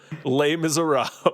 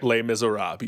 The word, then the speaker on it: Les Misérables: Today we'll be leading you through a deep dive of Les Misérables.